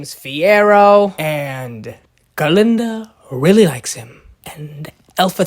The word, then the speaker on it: Galinda: Alaba and alaba's like and then he's like Glinda and then glinda's like um it's galinda go G ginda and then he goesa he